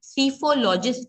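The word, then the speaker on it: psephologist: तो they are ऑन the broader term, जबकि सीफोलॉजिस्ट जो ये लास्ट टर्म हम पढ़ रहे हैं, पी साइलेंट है इसलिए उसे हम सीफोलॉजिस्ट के नाम से पुकारते हैं।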